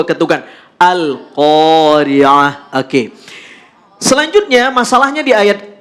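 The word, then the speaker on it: القارعة: Ada alif, sebelumnya ada huruf qaf yang berharokat fathah, maka qaf dibaca panjang 2 harokat. Al-Qari'ah. Tidak boleh Al-Qari'ah. Al-Qari'ah, nggak boleh. Tapi harus 2 ketukan. Al-Qari'ah.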